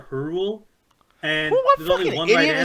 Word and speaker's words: Hyrule: been a conversation of is it pronounced hyrule or hurl and there's only one saying that that's stupid just trust me bro i've been in yelling magic it's her rule like what the [